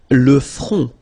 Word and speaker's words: front: Le front. Final T not pronounced. Le front. Okay, remember this nasal on, on.